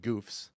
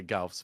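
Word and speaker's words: Goufs: mobile suits that are no joke they're called Goofs uh or some people say GS but it's really you see pronounced Goofs they even say it in the show in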